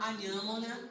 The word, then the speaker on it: Anhamona: Eu me chamo Anhamona, vocês querem tentar? Anhamona. Isso. Anhamona. Para quem a língua travou em algum instante, é só substituir. Vocês falam inhame?